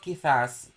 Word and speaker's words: quizás: How about quizás? Is it the right okay, Leslie. Okay, Leslie is right. Okay. Correcto. Quizás. Con acento en A.